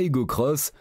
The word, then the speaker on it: Aygo X: fait désormais cavalier seul elle s'appelle désormais igo x que l'on prononce à Hugo cross et repose sur une